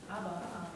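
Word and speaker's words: אבא: Ah, see, so it's ba, because the Aleph makes no sound, but we need it to make the word. Okay? So it's kind of like it's not even there, but it is. It's not pronounced. So the second word on line 5 reads Abba.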